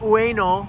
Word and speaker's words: Ueno: Ueno is Ueno, which is the proper way to say it.